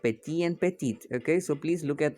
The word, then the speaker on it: petite: end with a vowel when there is a word that does not end with a vowel okay the word is pronounced up till the second last word okay after the second last alphabet that is p e